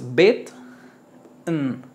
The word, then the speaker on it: bitten: es bet después tenemos bitten se elimina la e aquí simplemente pronuncias bit n bit n bitten bitten sí no se no suena la e no es bitten es